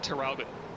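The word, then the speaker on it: Traralgon: You pronounce it Terralgan.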